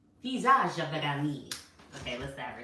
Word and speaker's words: Physiognomy: Every man has an innate talent for making a man of his physiognomy, physiognomy, physiognomy. It's Physiognomy.